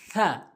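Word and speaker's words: ث: সহি শুদ্ধ উচ্চারণ হবে এরপরে আসুন সাকে বলে সাবে বলা যাবে না অশুদ্ধ উচ্চারণ হবে আমাদের শুদ্ধ উচ্চারণ করতে চাইলে জিহ্বার আগা দাঁতের আগা জিহ্বার আগার সামনে দুটি দাঁতের আগা থা এভাবে আমরা উচ্চারণ করব থা এরপর আসুন জিম জিম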